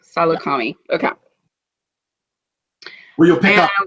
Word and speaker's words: Saleucami: Saleucami. Salukami.